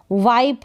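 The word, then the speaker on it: wipe: वाइप है, अब यहाँ पर ई है, ई का उच्चारण नहीं कर रहे हैं, साइलेंट है तो इसको वाइप ही पढ़ेंगे। अगर ई नहीं होता इन सारी स्पेलिंग में तो हम इसको वाइप नहीं पढ़ते, हम इसको विप पढ़ते।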